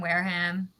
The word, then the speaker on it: Wareham: special special guest with us today uh jane wareham am i pronouncing your last name right is that it yeah wear them wear him it's like okay and uh we are talking